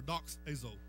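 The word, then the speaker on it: δοξάζω: It comes from a Greek word called doxio or doxazo. Doxazo. You can pronounce it ever how you want to.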